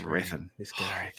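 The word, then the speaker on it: Hrathen: Raithan. That's Rathan. The H is silent. It's like Django.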